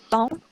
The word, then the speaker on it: temps: Terus lanjut lagi yang A, M, E, M, E, N itu ada tongs, kemudian ada emporté, terus ada lagi tong itu yang TEMPS itu, temps itu dibacanya tong.